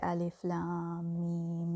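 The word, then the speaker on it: الم: So you don't say alam, you say alif lam mim when you recite it.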